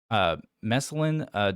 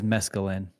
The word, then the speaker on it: mescaline: Mescaline derivative under a classified agreement. What was that? That word is mescaline. Oh, did I mispronounce it? My bad. That is Mescaline correct. derivative.